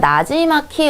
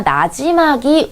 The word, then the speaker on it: 나지막이: 다시 한번 거울을 보면 나지막히 읊조린다. 자, 나지막히가 아니라 나지막이 읊조린다. 부드럽게 기로 발음을 해줍니다.